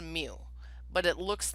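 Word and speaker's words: μ: parameter it's that that mu symbol so it's pronounced mu but it looks like that thing on the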